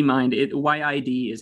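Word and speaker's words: yid: tibetan e mind it y-i-d is how you write it in the tibetan kind of romanization system which is very imperfect but it's just pronounced yi y-i and it also rides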